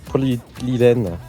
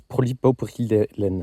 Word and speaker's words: polypropylène: Polylène, celui-là. En fait, ça se prononce polypropylène.